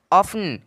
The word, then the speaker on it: often: OFTEN ऑफन, क्या ऑफन, ऑफन मतलब होता है अक्सर या प्राय।